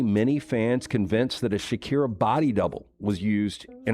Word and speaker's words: Shakira: been actually used in Shakira's place. Fans claim You mispronounced it. Shakira, guys. Come on.